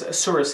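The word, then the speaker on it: Assuris: there's a company called asuras protection so it's a source it's spelled a-s-s-u-r-i-s and you can simply google them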